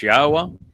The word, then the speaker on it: Yahweh: the fact that God's name is pronounced as Yahweh and that the uh Torah means teaching, not law.